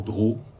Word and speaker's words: Droz: Voyez, on ne sait pas si vous dire l'éditeur Drault ou l'éditeur Droz. Quand on est du Midi, on a tendance à dire Droz.